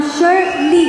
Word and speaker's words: शर्ली: जैसे Bruce Lee का नाम ब्रूस ली प्रोनाउंस करते हैं, वैसे मेरा नाम शर्ली. It's very simple, शर्ली. मैंने बहुत सारे इंटरेस्टिंग प्रोनाउंसिएशन सुने अपने नाम के.